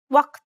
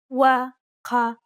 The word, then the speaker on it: وقت: In Egyptian and Levantine dialects, this letter is a glottal stop, like the stopping sound in uh-oh.